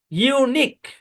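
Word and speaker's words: unique: শব্দের শেষে কিউ ইউ ই একসাথে থাকবে এবং ইউ ই সাইলেন্ট থাকবে। আচ্ছা, খেয়াল করেন। ইউনিক, এটা সাইলেন্ট।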